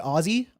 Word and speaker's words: Aussie: Oh, it's pronounced Aussie? Aussie, not Aussie?